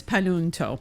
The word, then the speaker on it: Panunto: So yes, and thank you for pronouncing my family name correctly. Yes. It is Panunto.